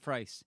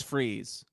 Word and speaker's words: Freeze: His name is Freeze, not Frice. But my kids like the one And with there's a Kurt reason Russell. why his name is Freeze.